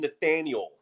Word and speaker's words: Nathaniel: first of all he he likes to be called Nathaniel not none Nate or Nat Nathaniel he makes sure everyone pronounces his full name but he bungled at